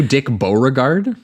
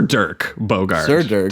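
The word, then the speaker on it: Dirk Bogarde: say his name too dick borgard am I saying it wrong am I embarrassing myself on on PA no you would not be embarrassing yourself at all because I mispronounced at least 10 names every single episode and people yell at me for it think it's Durk a Durk Bogard I think s sir Dirk Bogard to clarify yeah spinning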